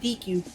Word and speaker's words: Deku: No, you gotta say it right. Deku.